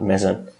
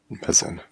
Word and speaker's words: Meson: But I'm not entirely sure what's the correct way to pronounce it if you're a native English speaker. But I just call it Meson. Meson.